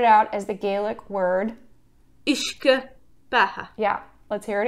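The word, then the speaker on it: uisge: internet friend that's gonna tell us how to pronounce it so whisky started out as the gaelic word ishka aha yeah let's hear it again ish good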